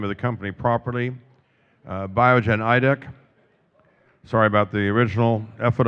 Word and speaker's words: Biogen Idec: Okay, so this time I'll pronounce the name of the company properly. Biogen Idec.